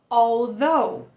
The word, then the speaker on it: although: All, desse L a gente já vai emendar no V, TH vozeado, terminar com O, although.